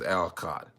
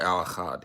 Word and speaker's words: Al Achad: For those of you that you see the author of the title is, some if you don't know how to pronounce it, it's Al Achad or Al Achad, you know what I'm saying?